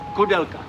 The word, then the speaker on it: Koudelka: This is a video on Josef Koudelka. I hope I pronounced that right. My name is Josef. Josef what? Koudelka.